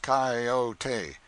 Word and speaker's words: coyote: If I remember rightly, this latter was the regular coyote, pronounced coyote of the farther deserts.